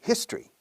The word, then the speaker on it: history: eventos históricos, we say history, sin the delante. History con aspirando bien la H.